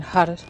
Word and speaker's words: Har: Okay, so you'll be saying Har, Har, Har, Har, Har. And it's pronounced H-U-D-U-H. So it sounds almost like a D.